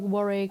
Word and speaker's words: Warwick: In my last video I said Chiswick is pronounced as Chiswick without the W, just like Warwick and Alnwick.